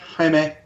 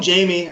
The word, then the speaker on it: Jaime: Is that how I'm pronouncing it? Yeah, Jaime. Jaime. You can call him Jamie.